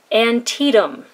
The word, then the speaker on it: Antietam: ink is by noodlers noodlers antietum that is how it is pronounced i'm sorry but some